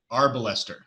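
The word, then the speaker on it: arbalester: a pronunciation thing here it's pronounced our ballester everybody everybody with me now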